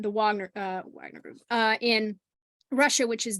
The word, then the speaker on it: Wagner: So the Wagner Group, for example, I want to pronounce it like a German, the Wagner Group in Russia, which is their big mercenary company.